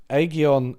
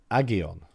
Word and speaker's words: Aghion: Rather than looking into the distant past, Aghion and Howitt were motivated by observing modern-day sustained innovation-led growth in advanced economies. Aghion... Right, okay. Aghion. Aghion. Okay, not Aghion, Aghion.